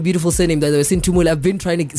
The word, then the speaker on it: Sinthumele: By the way, Sinthumele.